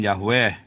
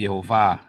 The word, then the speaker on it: Yehova: kembali lagi Yaa itu itu bacanya bukan yahwe tapi Yehova yehwa ya bapak yahwe itu